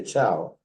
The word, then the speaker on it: Thiaw: That's Ro Brady in the middle, and then that's Maria Chow, it's spelled Thiaw.